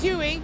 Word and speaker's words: Huey: Remember, the name is Huey, rhymes with woo-wee.